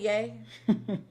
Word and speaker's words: Ye: You said Y-E. I know she meant yay.